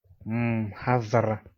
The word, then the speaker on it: mhadhara: So now let's look at how we pronounce these words. This is mhadhara, mhadhara, a lecture.